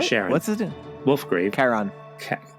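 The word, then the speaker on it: Charon: so wolf grave meets Sharon Sharon or Sharon what's his wolf grave Karan I thought it was oh Karan yeah it's a CH is a hard C he meets Kon and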